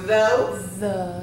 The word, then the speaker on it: though: okay so we have the word though we don't even need the GH kids we're going to